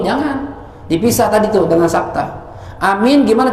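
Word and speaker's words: آمين: dipisah tadi terdengar Sapta Amin gimana cara bacanya yang normal aja yang paling fase yang abstrak paling khasnya dan berharap hamzahnya panjang terus minnya panjang hah Amin itu yang paling fasih yaitu aja udah cakep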